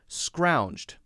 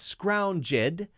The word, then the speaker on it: scrounged: syllable word scrounged scrounged it's not scrounge ED if it were scrounge it hmm hmm that would be two syllables it's not it's scrounged hmm so many letters